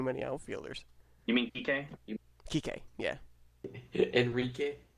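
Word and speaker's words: Kiké: Kike, yeah. Enrique. It's how it's No, pronounced.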